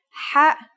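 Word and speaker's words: حاء: According to phonetic charts, ha is pronounced in a deeper part of the throat than kha.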